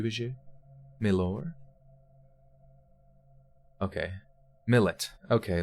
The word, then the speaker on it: Milat: anybody know milady is it milady MLAT okay millet millet yeah Ivan Madhuri shabadoo booze you me lower okay millet okay like mullet and what is it is